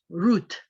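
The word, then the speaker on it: Ruth: is a person's name her name is root root which in english is usually spelled r-u-t-h because in some transcriptions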